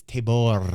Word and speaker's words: Tabor: figures is correct that the pronunciation is table that in my playthroughs